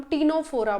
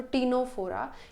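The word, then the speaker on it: Ctenophora: आती है उसे हम टीनो फोरा बोलते हैं यहां पे भी सी साइलेंट होता है तो टीनो फोरा इन्हें सी वॉलनेट या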